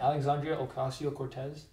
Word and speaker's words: Alexandria Ocasio-Cortez: Alexandria Ocasio-Cortez.